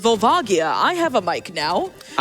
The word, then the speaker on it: Volvagia: Also, while I have you here, Globers, I called you out yesterday when I was hosting, but it is pronounced Vulvagia.